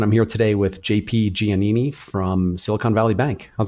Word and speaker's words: Giannini: yeah no that was perfect how do they pronounce it in Italy so in Italy it's janeé me so yeah I've been saying it wrong for